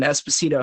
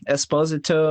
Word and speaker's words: Esposito: he looks pretty good Esposito I think was how it was pronounced Italian ish but I'm not Italian